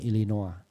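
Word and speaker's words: Illinois: keduanya di Amerika Serikat ya tulisannya Tapi bacanya illinoa karena dia itu bersekolah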